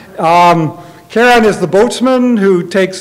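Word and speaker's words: Charon: the Greek mythology but is going to be pronounced Sharon that would be like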